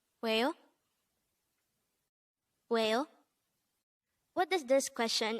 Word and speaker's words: 왜요: WAEYO. This is pronounced as a two-syllable word. The first syllable is we, and the second syllable is yo. Pronounce it with me. WAEYO.